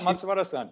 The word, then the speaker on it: Matsubara: I think there are lots of 20 questions, there's one question from Hideki Matsubara, if I have got the pronunciation. Yeah, Matsubara-san.